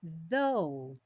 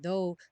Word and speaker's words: though: heart is aing bom though although even though todas essas palavras que terminam com GH o GH não vai ser pronunciado então não se preocupe com ele though your heart is